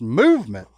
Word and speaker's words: MVMT: and clean original designs mvmt pronounced movement our buddy zip movement